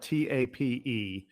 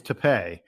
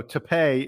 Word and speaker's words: Tapé: Yeah, and first of all, the most important thing, his last name is spelled Tape, but you are correct. It is not pronounced tape like Scotch tape. It is Tapé.